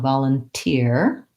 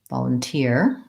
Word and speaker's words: volunteer: vol Lum and then we have an ear diphthong volunteer and that is the e vowel and the volunteer stress before the last syllable so I'm going to make sure that I have a clear e tense e and I'm gonna write